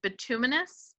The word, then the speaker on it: bituminous: And this is, if I'm not mistaken, please correct my pronunciation, bituminous coal?